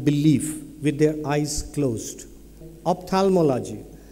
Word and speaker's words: ophthalmology: Ophthalmology has a funny letter and a silent letter H.